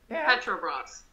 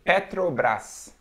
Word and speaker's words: Petrobras: is watching us you know how would you pronounce this brand petrol bras petrobras petrobras yeah here we say petrobras petrobras yeah it's all about the tongue i